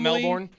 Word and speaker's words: Melbourne: I have Melbourne, family, not Melbourne.